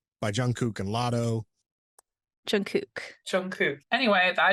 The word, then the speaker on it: Jungkook: No, but it's Jungkook. That's it. It's whatever he was saying was just incorrect. Because he was like saying kook, right?